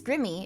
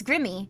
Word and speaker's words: Grimmi: Scarlet that's lovely um I thought your name was gramy I pronounced my name pretty often it's Grimmie it's Grimmie it's just Grimmie like you I'm around people that